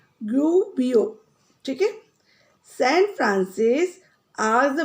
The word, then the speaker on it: Gubbio: How you will pronounce? Gubbio.